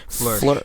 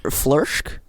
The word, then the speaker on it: Flörsch: Sophia I'm not going to try to pronounce that name. Flörsch. Flörsch?